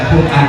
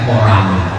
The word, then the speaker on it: Quran: ada iramah ada intonasi baca Quran bukan baca quoran nak tangga yang kedua